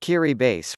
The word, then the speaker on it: Kiribati: Kiribati, pronounced Kiribati, weird, right, is an archipelago of islands in the Pacific Ocean that stretches across some 3.5 million square kilometers of water.